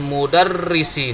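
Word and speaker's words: مُدَرِّسِ: Hadza maktabul mudarrisi. Nah, ini mudarrisi ya bacanya. Maktabul mudarrisi. Di sini mudarrisi.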